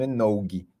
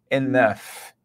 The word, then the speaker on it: enough: aí algum aluno falando enog tá não fale enog pelo amor de Santa Claus Enough Enough esse g e esse F do final tem realmente a pronúncia de F então Enough Enough tá